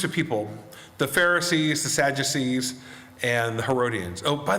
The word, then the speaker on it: Sadducees: testament teacher said um that is easy to remember because they're sad you see and i was like oh all right so these three groups the the pharisees the sadducees and the herodians and